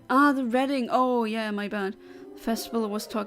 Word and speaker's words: Reading: Okay, yeah, I forgot that it was written like that, spelled like that, but it's pronounced like Reading.